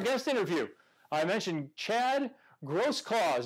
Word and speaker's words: Grosklags: interview I mentioned Chad gross cause don't call him gross clag's there's a G in there but it is silent gross claws down in